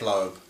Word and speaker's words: Loeb: This it's written by Jeff Loeb, or Loeb, however you want to pronounce it, who's now head of Marvel TV.